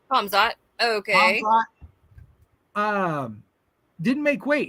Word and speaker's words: Hamzat: Hazmat. Am I pronouncing? No, you don't. You do pronounce the K. Hamzat.